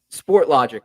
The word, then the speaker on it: Sportlogiq: those yeah but you you work at UH sport logic right that's how you that's how you pronounce it what a cool name by the